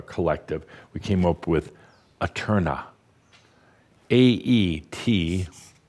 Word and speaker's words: æterna: We came up with Aeterna. Aeterna. Or if you prefer, you can spell it and pronounce it Aeterna. Aeterna. Either one, Aeterna, either way.